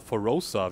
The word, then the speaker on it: Forossa: Helm vom wilden wengal von forossa Getrag oder forosa wird so ausgesprochen getragen Helm wie man